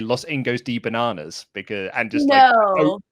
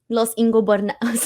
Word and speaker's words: Los Ingobernables: Laurie just used to say Los Ingos de Bananas outwardly say I don't know how to say this. So it's Los Ingobernables.